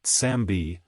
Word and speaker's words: Sam B: undead this is because the pronunciation of his name something like sambi when spoken in the original language sounds like zombie forgiallo the luxury brand